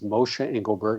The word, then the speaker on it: Moshe Engelberg: Well, my website, as you mentioned, is Mosha Engelberg. I'll spell it because it's not an easy name.